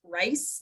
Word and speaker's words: Rhys: like that's it's definitely an American thing because that's just how we would pronounce it, rice.